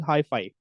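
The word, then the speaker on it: hyphae: as hii so water highi it is actually pronounced as highi h i FWE highi okay now pronounce it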